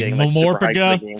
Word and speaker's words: MMORPG: By the way, Mamorpaga, for those of you that didn't catch on, MMORPG pronounced as a word.